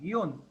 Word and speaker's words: guion: Sir, How do you pronounce the hyphen, like in Khore hyphen Vito? Yeah, it's called Gion. I think I had given the Gion. I had given Guion.